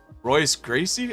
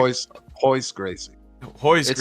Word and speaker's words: Royce Gracie: first winner for like a while was uh Royce Gracie I think his name was he was like Hoy Gracie ho but it's pronounced yeah so he was a little tiny